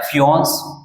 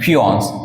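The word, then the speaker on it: fiancé: करेंगे ठीक है तो इसको लिखा जाता है फिनस पुरुष मंगेतर फिनस ठीक है प्रोनाउंस चेक करेंगे इसका है ना स्पेलिंग भी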